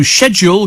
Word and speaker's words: schedule: tour and doing uh so schedule came over from Latin Italian where CH is always K it was the British that changed it says John I don't care it's schedule not schedule Martin says I'm late today